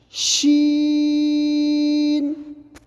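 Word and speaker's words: شين: گے اس طرح سین، لیکن جب ہم اس کو پڑھیں گے تو تفشی کی آواز سے، پھیلاؤ کی، تفشی کہتے ہیں پھیلاؤ کو، تو ایک پھیلتی ہوئی آواز کے ساتھ پڑھیں گے. جیسے شین.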